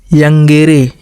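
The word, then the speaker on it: iungere: Cone plus यंगेरे। इसको जे को silent कर देंगे।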